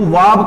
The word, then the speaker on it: verb: इस तरीके से मिलेगा, जिसमें आप लोग आर को साइलेंट रखोगे। तो कोशिश कीजिएगा कि वर्ब ना कह करके इसको वाब कहें। वाब, इसका जो प्रोनाउंसिएशन है, करेक्ट प्रोनाउंसिएशन वो ट्रांसक्रिप्शन के अकॉर्डिंग वाब होता है, ना कि वर्ब।